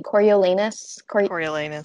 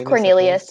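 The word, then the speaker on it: Coriolanus: a tribute um do you say his name coriolenus yeah yeah i thought his name was cornelius until this year when i read this book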